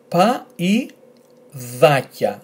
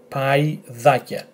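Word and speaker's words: παϊδάκια: However, in this word, which is identical to that, because of those two dots, you will not pronounce this combination as e, but as I.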